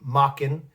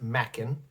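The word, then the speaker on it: Machen: Now, I used to pronounce him mistakenly Mockin, but apparently it's pronounced Mackin.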